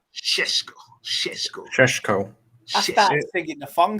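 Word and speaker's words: Šeško: How to say his name? Sheshko. You're the only one who can't say his name. Sheshko.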